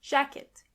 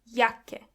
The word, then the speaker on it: Jacke: Jacke is jacket. And this is where you can see that the letter J is pronounced as Y. Jacke. When you see a C and K together, they are pronounced as K.